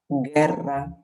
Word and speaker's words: guerra: Donc ici, on aura guerra. On ne prononce pas le U, mais il nous permet d'avoir le son G.